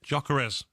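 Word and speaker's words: Gyökeres: Jocker. Is that why you say it? Yeah. Jocker.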